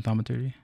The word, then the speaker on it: Thaumaturgy: I don't know how to pronounce it. It's THAUMATURGY.